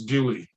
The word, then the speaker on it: Beaulieu: Well, there's a place in England that is spelled capital, well, Beaulieu, which would translate in French to beautiful place. But it's called by local residents of that particular place as Bewley.